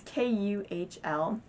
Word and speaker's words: Kuhl: I got a $25 offer, which I heard that Cool was a really good brand. It's Kuhl. That's how you spell it.